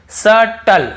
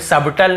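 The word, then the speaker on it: subtle: फिर देखिए यहां पर देखिए सटल सटल यहां पे सबटल नहीं पढ़ रहे हैं तो क्लियर हो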